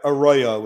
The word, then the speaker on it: Arroyo: an hour slot on EWTN opening for Raymond auroria is that how you say that properly oh boy I I would need to work Arroyo is how I usually have it pronounced I mean I'm a huge fan of